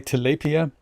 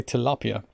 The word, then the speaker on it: tilapia: i'm inclined to say tilapia but i think in america they say tilapia it's a bit like penchant and poncho and me not being from either of these countries i'm consistently confused how to pronounce things fill with fresh water